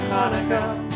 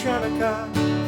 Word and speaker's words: Hanukkah: So much Hanukkah to celebrate Hanukkah. It's not pronounced Channukah. The C is silent in Hanukkah.